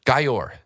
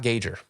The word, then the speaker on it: Gayor: Adrian Gayor, I learned how to, for everyone, Gayor, not Gager. Everyone's saying it wrong.